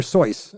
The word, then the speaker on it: Seuss: Like Dr. Seuss was Dr. Seuss. Seuss. And people just wouldn't He's say like, Seuss. So fine, he's like, that's Dr. whatever. Seuss, whatever, Fine, you know.